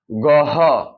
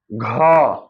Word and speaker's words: ঘ: শিক্ষা দিবেন যেমন আপনার অনেকে উচ্চারণ করে গহ এটা সঠিক উচ্চারণ হচ্ছে যে ঘ অনেকে উচ্চারণ করে কি